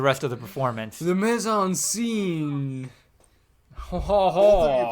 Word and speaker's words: mise en scène: Clooney was playing into that, and really the mise en scène was Kimset with the rest of the performance. The mise en scene.